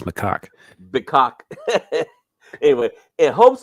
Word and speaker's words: macaque: macaque is how that's pronounced. And I know what it sounds like, but it's macaque.